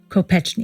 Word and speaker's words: Kopechne: of coal miners and they pronounced their name Kopechne II after graduating from